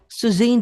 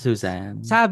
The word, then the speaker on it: Suzanne: Suzan daw kasi talaga. Ah talaga ba? Hindi pa Susan ha. Alam ko Suzan. Alam ko Suzane. Ah Suzane. So we've been saying it wrong pala.